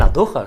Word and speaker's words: Andújar: Por Dios, que estamos en Andujas, que estamos en anduja, que anduja somos como somos, que en anduja la J se pronuncia así, J, pero no es J.